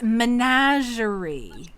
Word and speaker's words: Menagerie: rolls his eyes and says you can never pronounce it right can you it's menagerie okay fenn perks up at that because that